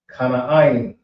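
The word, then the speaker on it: כנען: Next we have is Canaan, which is pronounced K, Na, Ain. Kana Ain.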